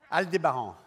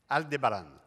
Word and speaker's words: Aldebaran: aldebaran the name of my company alu de baran